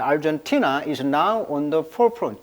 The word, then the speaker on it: Argentina: 자, 티나의 강세가 있어요. 자, Argentina is now on the forefront.